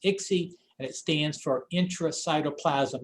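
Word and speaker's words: ICSI: sperm in the egg that injection is called i-c-s-i and pronounced ixy and it stands for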